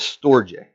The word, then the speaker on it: storge: The second type of love is storge. And I may say these wrong, but I did look up the pronunciations.